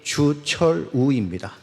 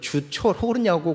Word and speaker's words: 주철우: 제 이름은 잘 아시다시피 주철우입니다. 근데 이제 제가 전화를 걸면 어떤 사람들은 주철호냐고 그래요. 근데 이게 한두 번이 아니더라고요. 제가 우발음이 잘 안 된가 봐요.